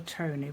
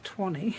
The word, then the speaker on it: Twanny: Some people call her Tony, but it's not. It's Twanny. Because her name's Antoinette. So it's the Twan bit of the Antoinette with a Y at the end.